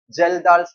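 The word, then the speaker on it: Kjeldahl: Okay, so nitrogen estimation का दो method, एक है Dumas method and the Geldahl's method. A is silent, Geldahl, Dumas method.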